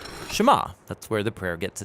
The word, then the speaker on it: Shema: is here or listen which in Hebrew is pronounced shema that's where the prayer gets its name now